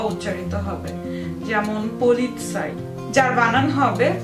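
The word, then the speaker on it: Polizei: জেড তাহলে সেটির পূর্বে ত উচ্চারিত হবে যেমন পলিৎসাই যার বানান হবে পে ও এল ই সেট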